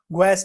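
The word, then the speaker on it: guaiac: ग्वस test इसको हम बोलते हैं।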